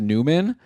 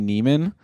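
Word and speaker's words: Nyman: another guy Yan okay apparently his name is pronounced Newman even though it's n y Meen I've always assumed yany Neiman but I guess I'll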